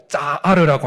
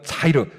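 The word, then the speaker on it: צעיר: 이때 아직 막내가 남았나이다 할 때 그 막내라고 하는 단어가 히브리어로 짜이르라고 하는 혹은 차이르, 짜와 차의 중간쯤 발음 나오는 발음인데요.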